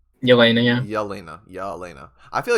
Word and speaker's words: Yelena: Yelena. Elena? Yelena, yeah.